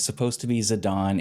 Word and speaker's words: Zidane: How do you for nine is do you pronounce Zedane or Zidon? I say Zedane. It's supposed to be Zadon.